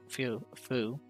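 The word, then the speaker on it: フ: vertical line this is foo or foo pronounced as foo like in the word fool in japanese the f sound can almost sound like an h it's very subtle and you need to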